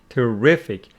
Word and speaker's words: terrific: right and terrible terrible so this one carries the stress on the second syllable making it terrific and this one on the first syllable making it terrible now categorizing them into